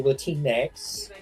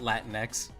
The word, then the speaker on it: Latinx: You're supposed to say Latinex. That's the correct terminology of actually that's the first time I've ever heard somebody pronounce it latinex, not Latinx.